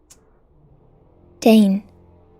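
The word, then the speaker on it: Dáin: got to I don't know how that one's pronounced Dane Dane thank you Google uh Dane to S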